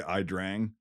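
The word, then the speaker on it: Ia Drang: the yet well yeah Drang is like how it's pronounced like whatever but Americans say I drank so I'll just say I drank from here on out but um so a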